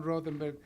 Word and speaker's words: Rothenberg: Ben Rothenberg, contributor of the New York Times.